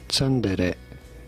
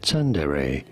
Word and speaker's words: tsundere: In Japanese, it is said as tsundere, tsundere. This is a term for a character development process. In English, it is usually pronounced as tsundere, tsundere from Japanese, tsundere.